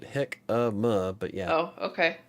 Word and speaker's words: jicama: Yeah, see, I got baked himaka fries. I'm gonna try it, I think. Okay, Sam. Chris says, Sam, took me a sec. We pronounce it hick-a-ma, but yeah.